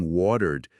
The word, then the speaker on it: watered: No inglês americano, o T em wateredra aquele flap te, um som rápido, quase um d, sabe?